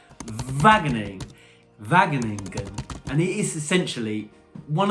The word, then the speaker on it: Wageningen: First of all, we're taking a trip over to a place which I find impossible to pronounce, but it is pronounced Wageningen, and it is essentially one of the centres of food innovation and technology in Europe and even the world.